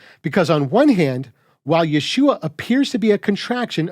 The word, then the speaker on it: Yeshua: from the contraction standpoint it's pronounced exactly like you'd expect when you take the hoe out of yahushua Yeshua but if you're still